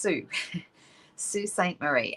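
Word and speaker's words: Sault Ste. Marie: in a place called sioux st marie it's spelled s-a-u-l-t but it's pronounced sioux st marie and it's the oldest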